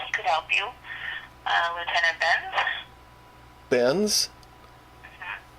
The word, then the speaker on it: Benz: Lieutenant Benz. Benz? Mm-hmm. How do you spell that? B-E-N-Z. Benz. Oh, like it's Mercedes-Benz.